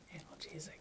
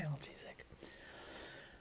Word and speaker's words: analgesic: slightly anal analgesic analgesic yeah analgesic that's how you say it analgesic so you can this